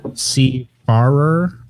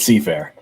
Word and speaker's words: Seafarer: everybody wants to know is it c barber or seafarer it's seafarer yeah you're like a seafaring ship so the last star